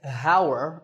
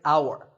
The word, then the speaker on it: hour: tour in number nine the spelling has an H at the start but that H is silent we don't say how're we say our the first sound is